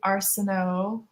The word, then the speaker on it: Arsenault: I'm gonna say Arsenault because the French I don't know. Yeah, that's how you would pronounce it as a French person, I believe.